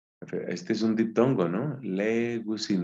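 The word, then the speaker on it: λέγουσιν: Legusin, no se pronuncia legousin, sino legusin, legusin. Entonces, legei es dice.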